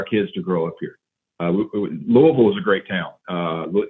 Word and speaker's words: Louisville: to pronounce that it's it's technically louisville and not louisville i did not know